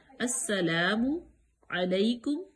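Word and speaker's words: السلام عليكم: है अस्सलाम ठीक है सीन मुसद है सख्ती से लाम जो है वो साइलेंट होगी अस्सला अलिफ मद्दा थोड़ा सा लंबा भी करेंगे अस्सला मु मु इस तरह भी नहीं करेंगे झटका भी पैदा नहीं करेंगे अस्सलामु अलेकुम वालेकुम आन का मखर वाज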